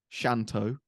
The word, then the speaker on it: Shanto: and it was only really because of Najmul Shanto, is how you say his name. Shanto, I'm just going to call him Shanto.